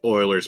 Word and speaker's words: Euler: Uer, you can't help it cuz I I thought it was Ulers. We We had a high school teacher that always called it Euler's number. Yeah. which is thinking back is a little shocking because I think I think the uh the teacher had a master's degree in math and I didn't know it was Oilers until a couple years ago and it's pronounced Oilers because it was a Swedish guy.